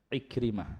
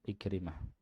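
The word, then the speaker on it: عكرمة: Jadi bacanya Ikrimah ya, Ikrimah.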